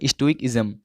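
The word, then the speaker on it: stoicism: से परे हो, तो उसी को बोलते हैं स्टोइक्सिज्म। स्टोइकिज्म, ठीक है। इसका प्रोनाउंसिएशन राइट क्या होगा? स्टोइकिज्म।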